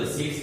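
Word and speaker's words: receipts: वैसे है तो पी, लेकिन ई साइलेंट है तो रिसीट्स बोलते हैं।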